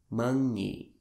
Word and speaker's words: månnge': The ngi part in singing?